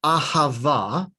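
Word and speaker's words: אהבה: So even a word like ahava, which sounds like it's starting with a vowel, actually that starts with the letter aleph.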